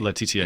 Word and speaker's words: Laetitia: Laetitia.